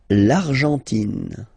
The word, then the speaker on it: Argentine: L'Argentine. Okay, so you've got this nasal here, en, l'argent, and then tin. Don't pronounce the final it just gives you the pronunciation of the N, in.